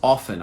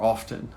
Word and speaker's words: often: I use often, I think, or often. I use both, and I'm not even aware when I use them. They're both acceptable, often and often. So don't worry about the pronunciation. Both will be acceptable.